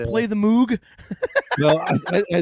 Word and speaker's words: Moog: It is Moog. It is not Moog, even though it's spelled Moog.